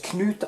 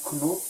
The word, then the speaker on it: Knut: these yeah it's okay my name is knut so that's how it's pronounced it's not it's not knot here now you can